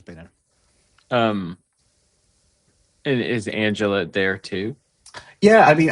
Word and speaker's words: Angela: And it is unfortunately pronounced Angela, I'm afraid.